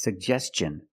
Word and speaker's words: suggestion: We have two G's and we're going to pronounce both of them.